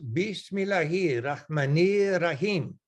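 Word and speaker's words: بسم الله الرحمن الرحيم: In the name of Allah, the most gracious, the most merciful, which is pronounced Bismillahir Rahmanir Rahim.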